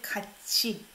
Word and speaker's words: 같이: So I pronounce it as chi sound, right? You don't say 같이. You say 같이.